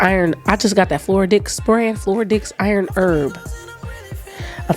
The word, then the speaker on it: Floradix: Spell it, please. Floradix. Okay, DIX. Floridix, not that.